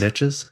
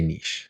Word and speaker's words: niche: Niches? Is it niche? No, we say niche. Niche? Americans say niche.